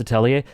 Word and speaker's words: Atelier: I love the way you pronounce Atelier.